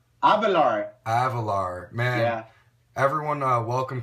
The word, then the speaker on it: Avelar: Avelar.